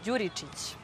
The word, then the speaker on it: Đuričić: De dónde eres primero mi nombre se pronuncia como y apellido yuritics es muy difícil hacer